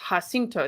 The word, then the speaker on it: Jacinto: Lizzie Jones says San Jacinto is Spanish, so it's pronounced Jacinto. Thank you so much.